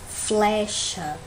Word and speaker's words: flecha: Qual é a sílaba tônica aí? Flecha. É o flé, né? Se a gente for olhar, ela é a penúltima sílaba, não é isso?